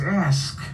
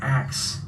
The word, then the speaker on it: ask: But you should have known by the time you got into high school that the correct way to say it is ask, not axe.